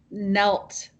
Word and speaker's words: knelt: hard so hard and that is the word nelt k n e lt it's a very hard